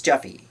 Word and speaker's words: Japhy: So yeah, but I think it's pronounced Jeffy, like the name Jeff. But I think I heard Jeff Zephy. I keep wanting to say Zephy, like Zephyr, but no, it's Jeffy, yeah, and he I